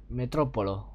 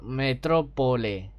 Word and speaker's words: Metrópole: Metrópolo. No, Metrópole. Lo pronuncié bien al principio.